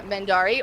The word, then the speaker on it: Mendarii: so and then hello hi i am uh mandari or you can also call me because